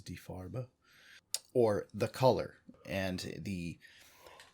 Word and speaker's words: Die Farbe: Farb or D Farber some pronounce it die far but I'm pretty sure the official German pronunciation is D far bow or the color and